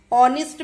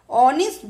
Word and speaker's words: honest: Remember, we say an honest man because honest begins with the vowel sound O as in orange. So we put an before honest. The letter H is silent in the word honest.